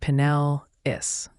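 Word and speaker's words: Pinellas: plan accordingly okay y'all bought County in Florida pelis pelis how do you say it it's pronounced penel is Ryan looks like you've got it shout out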